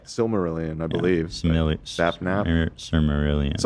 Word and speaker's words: Silmarillion: What the fucking the Minecraft lore is like this Similarian. Yeah. Is that I say it right? Silmarillion, I believe.